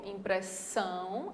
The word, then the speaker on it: impressão: De fato, a sílaba mais forte é essa daqui, ó, impressão, a última, e relações, a última também.